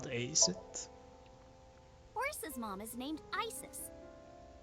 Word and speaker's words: Isis: Horus's mom is named Isis. But in ancient Egyptian, it's pronounced closer to Ise or Asa.